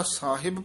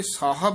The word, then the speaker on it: ਸਾਹਿਬ: ज्यादा साहिब पादी आउंदा सस्सी गन्ना हाही सियारी बब्बा। साहिब इथे साहब है ध्यान नाल उच्चारण करना। ससे कन्ना हाहा बब्बा औंकड़ साहब बोलना साहिब नहीं कहना है।